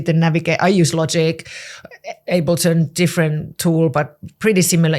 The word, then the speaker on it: Ableton: Is it Alberton? Is that what it's called? Oh, Ableton. Yeah. Yeah. I know I'd say it wrong.